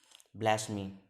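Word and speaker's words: blasphemy: ब्लैस्मी। इसमें क्या है, इसमें पी साइलेंट होता है, इसमें पी साइलेंट होता है, ये पी साइलेंट है।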